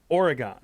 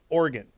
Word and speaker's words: Oregon: idiot they say no you pronounce it like the instrument with keys in the church oregon where do you live portland organ and if i said oh you live in portland oregon which i have said